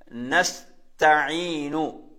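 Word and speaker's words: نستعين: அடுத்த உதாரணத்தை பாருங்க, அதுல வந்து நாங்க கவனிக்கிற இடத்துல சீன், அதே மாதிரி ஐன். நஸ்தஈனு. எப்படி? நஸ்தஈனு நஸ்தஈனு. இப்ப நாங்க இதுல ஓதும் போது சூரத்துல் ஃபாத்திஹால இய்யாக நஅ்புது வ இய்யாக நஸ்தஈன் எப்படி ஓதும்? நஸ்தஈன் நஸ்தஈன். அதுல சீன், அதே மாதிரி ஐன் எல்லாம் கவனிக்கணும்.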